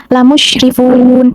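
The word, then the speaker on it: لَمُسْرِفُونَ: Jadi bacanya lamusyrifun seperti itu. Jadi lam musyrifun nunnya itu ee agak panjang gitu. Nah di bagian rin-nya itu ee dibacanya tuh dibacanya tuh seperti didengungkan gitu. Enggak didengungkan sih kayak lamusrifun dipendekan gitu maksudnya.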